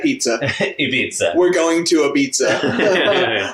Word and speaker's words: Ibiza: I can't even deal with the fact that she said we're going to Ibiza. Well, that's how they pronounce it here. Ibiza.